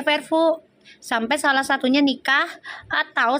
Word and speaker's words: Verfu: Kan udah gue bilang Puji mau disiperin sama siapa kek, Feral juga sama siapa kek, gue mah tetap di Vervo, bacanya Vervo sampai salah satunya nikah atau salah satunya bilang bubar, gitu aja ya.